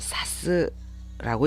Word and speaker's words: 指す: 기초로 알고 계신 분들네 동사로 쓰일 때는 이것을 사스라고 읽습니다 단 이음저러인이 동사가 설명할 내용이 좀 많네요